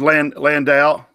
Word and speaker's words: Landale: How good is Landale? Did I say that? Yeah, I pronounced that correctly.